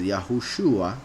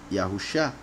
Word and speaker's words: Yahushua: however there are proof there's enough proof in scriptures to show that the name of the messiah is yahushua not yahusha that's not the case